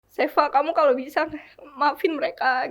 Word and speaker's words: Cheva: Bener ya dibacanya Iya, Seva. Tulisannya CHEVA. CHEVA benar. Seva.